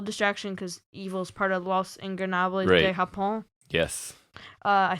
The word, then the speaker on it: Los Ingobernables de Japón: after an Evil distraction, because Evil's part of Los Ingobernables de Japón.